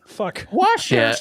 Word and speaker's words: Worcester: Worster.